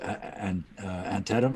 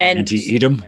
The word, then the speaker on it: Antietam: Antietam. I always pronounce it wrong. I always want to Antietam, pronounce that's right. Antietam. I always want to pronounce the I in there. Yeah, and Antietam.